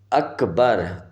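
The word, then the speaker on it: أكبر: کے صحیح نہیں ہوتے۔ اکبر، الف کی جگہ پہ وہ وا لگاتے ہیں۔ اللہ اکبر اللہ اکبر، اور اس طرح کرتے ہیں۔ سب سے پہلے وہ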